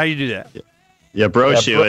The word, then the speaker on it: Brochu: Brochu, how do you do that? Yeah, Brochu. It rhymes with snowshoe.